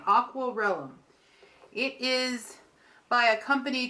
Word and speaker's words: Aquarellum: hobby sort it is called raw realm I've said it wrong again aqwal Rome it is by a